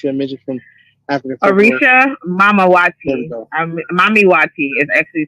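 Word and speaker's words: Mami Wata: ocean God that you had mentioned from Africa mamati mamy Wati is actually pronounced mamy Wati wat and that means Mama water and Arisha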